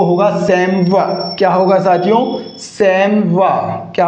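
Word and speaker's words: chamois: हिरण की एक जाति का नाम है, और इसका करेक्ट प्रोनाउंसिएशन क्या हो जाएगा? क्या कैमोइस हो जाएगा? क्या चैमोइस हो जाएगा?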